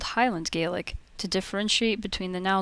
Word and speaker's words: Gaelic: Hello, I'll be talking about the Scots Gaelic language, or Gaelic, as it would be pronounced by a person in Scotland.